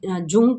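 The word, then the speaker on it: Jung: इसको लिखने में हम लोग जे यू एन जी जंग करके लिख रहे हैं। बट इन इसको प्रोनाउंस करते हैं हम जंग।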